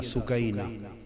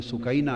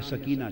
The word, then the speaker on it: सुकैना: इमाम आली मुकाम सीधना इमाम हुसैन की प्यारी लख्त जिगर शहजादी सैयदा सुकैना, असल नाम उनका अरबी वजन में सुकैना है, उर्फ आम में सकीना चलता है, असल लफ्ज सुकैना, سیدہ میں عرف عام